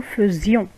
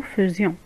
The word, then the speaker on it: faisions: On écrit AI, on la prononce E. Nous faisions, pardon. Nous faisions.